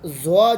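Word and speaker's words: ظ: Shape میں ہوں گے، اور زوا جو ہے اس کو بھی زوا، اس پہ زور نہیں لگانا، زوا تو زوا، ان کو لمبا نہیں کرنا.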